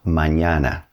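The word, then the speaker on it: mañana: It's called an pronounced like the N in the English word onion. Good example of this is mñana, which means tomorrow.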